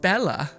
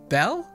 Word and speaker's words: Belle: Sekiri says it's not Bella. It's pronounced. How did? Oh, Belle. Oh, so it's not Bella, it's Belle? Is that right? Just like Belle? I think that's right.